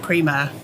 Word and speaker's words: Primeur: never get offended but the company name is pronounced Prima Prima yes okay well Jenny thank you very